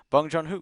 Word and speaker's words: Bong Joon-ho: I know I have some of the syllables right, but let's see Yep. here. Bung. Bong Joon-ho.